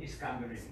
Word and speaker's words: Iskandaria: The letter's in Arabic, but it says, Min Iskandaria, okay, from Alexandria. Iskandaria is how you say Alexandria in Arabic.